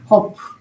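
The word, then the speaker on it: ק: 커프 커프 커프 커프 커프고 코프고 우리 우리 발음으로 키우기고 영어에는 큐 커프 커프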